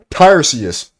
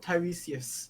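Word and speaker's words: Tiresias: Tyrus. Tyrus. Do not insult Tyresius.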